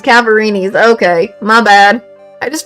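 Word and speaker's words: Cadaverini: I keep saying I don't know how to pronounce it at first. It's Cavarini's.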